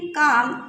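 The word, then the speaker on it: calm: At last everything seemed काम and peaceful at last everything सब कुछ सीम्ड लग रहा था काम यहां काल में नहीं पढ़ेंगे एल साइलेंट है काम एंड पीस पीसफुल और शांतिपूर्ण सब कुछ लग रहा था।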